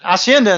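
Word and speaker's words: hacienda: they call Henda acendas H is silent Spanish asend I have asenda in the CBA in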